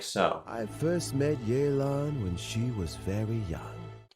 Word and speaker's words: Yelan: How do you pronounce this name? Now, when I look at it, I read Yelen in my mind.